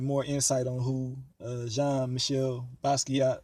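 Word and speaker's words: Jean-Michel Basquiat: insight on who uh jean michelle basquiat or that's how you pronounce it you know saying uh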